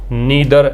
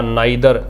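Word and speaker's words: neither: pronounce कर सकते हैं नीदर या नाइ दर यह भी प्रोनाउंस हो सकते हैं अलग-अलग कैटेगरी यह कैटेगरी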